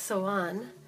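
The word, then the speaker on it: Samhain: this right here is October 31st pronounced so on and it marks summer's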